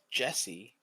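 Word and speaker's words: Djessy: name is jesse but there's a d in front of it where is he there he is d j e s s y so i no idea how you would pronounce that yeah you wouldn't say the d but that doesn't sound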